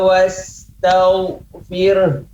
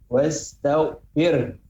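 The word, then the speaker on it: واستغفر: Fasabbih bihamdi rabbika wastaghfir. Ya, ini ada ha, maka pengucapan tadi ya, wastaghfir. Ada di ujungnya juga keluar nafas.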